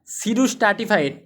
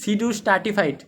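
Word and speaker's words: pseudostratified: ইউনিলেয়ারড ইউনিলেয়ারের মধ্যে কি রয়েছে সিম্পল আর হল সিডু স্ট্রাটিফাইড এটা কিন্তু বানানটা দেখে নেন এটা কিন্তু অনেকে মানে ভুল করবেন পি উচ্চারণ থাকার পি সামনে থাকার পরেও এটা উচ্চারণ হছে কি সিডু স্ট্রাটিফাইড এটা কি উচ্চারণ সিডু স্ট্রাটিফাইড সিডু স্ট্রাটিফাইড দে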